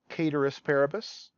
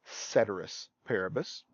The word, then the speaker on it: ceteris paribus: with me ceteris paribus some people will pronounce this latin phrase caterers paribus Latins a dead language we don't know how they pronounced it but most people will pronounce this ceteris paribus sometimes we'll call this